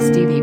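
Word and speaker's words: Stephe: he was called stuff he pronounced stevie by his family 14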